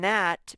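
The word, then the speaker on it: gnat: sound k nash and nat begin with an m sound that m sound is spelled with a gn nash like you might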